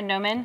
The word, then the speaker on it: gnomon: A gnomon? Gnomon. It's spelled like gnome. Like gnome is okay. With a G. The G is silent.